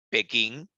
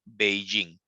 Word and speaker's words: Beijing: este sistema de traducción el Antiguo nombre de la capital china Pekín ahora ya no le ya no la tenemos que escribir de esa manera o pronunciar de esa manera si no Tendremos que mencionarla como Beijing se entiende la idea muchachos Entonces es la misma ciudad Solo que ya no debemos de llamar la Pekín sino ahora debemos de